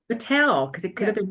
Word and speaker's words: Mittal: I was listening you totally got it right Mattel Mattel because it could have been matal and I